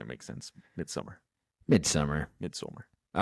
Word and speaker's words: Midsommar: Some people say Midsummer. I'm just going to say Midsommar. It's whatever. In the movie, they say Midsummer. They do? Yeah, even the Norwegian people. They say it wrong. Or the Swedish people. They do? I don't know, man. I'm reading it. It doesn't say Summar. It says So.